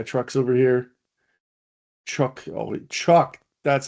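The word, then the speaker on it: Chuuk: Um where's Truck? Remember the was there was a the battle of Yeah. Truck the island. Yeah. Truck. Yeah. Truck's over here. Truck. Oh, Chuck.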